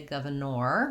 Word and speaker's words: governor: our other letter o our or at the end says the er vowel even though we spell it with or we don't say governor we say governor governor and so you can see that we have two ers in governor they both have the er sound um so i'm going